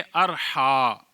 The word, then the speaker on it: Arha: चौथा नाम है अरहा अलिफ पर ज़बर है और आखिर में भी हमजा है अरहा यह इसकी वाहिद रहाहा